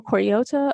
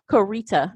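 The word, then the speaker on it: Koryta: I guess he wrote 14 books under Michael Koriota or Michael Cor Korita. I'm sorry. He actually has a phonetic pronunciation of his name, Korita.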